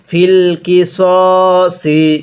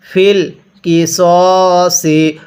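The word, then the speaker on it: في القصاص: ওয়ালাকুম ফিল কিসসি। অনেকেই আমরা এটাকে ফিল কিসাসি পড়ি, সদকে সা পড়ি। যদি সদ জবর সা পড়ি তাহলে কিন্তু পড়াটা সহি শুদ্ধ হবে না। তাহলে কিভাবে পড়তে হবে? ফিল কিসসি।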